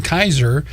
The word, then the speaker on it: Keiser: over start working there on Kaiser and not to be confused with the hospital terrific I usually had to point that out to people because that's the the first thing they think of and it's spelled differently kei ser named for the the